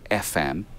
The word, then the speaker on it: ephem: Uh, there's there's basically a standard library you can get called FM. It's spelled E p.